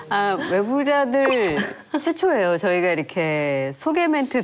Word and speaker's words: 외부자들: 예, 저 방금 애무자들 그러신 줄 알았어요. 아니 저는 애부자로 들었어요. 사랑 많은 사람들. 제가 늘 이렇게 외가 잘 안 되시는 것 같아요. 열 발음에 늘 문제를 지적해봤습니다. 외부자들 최초예요.